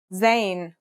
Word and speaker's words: Zayn: a DOT on top in terms of pronunciation you say just like the English Z as in zebra or Al Jazeera practice saying Al Jazeera